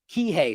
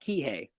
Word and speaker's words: Kihei: I'm telling you right now that I'm much Kihei someone's saying in the chat Kihei for for the location I'm sorry I mispronounced it that that ultimately that we should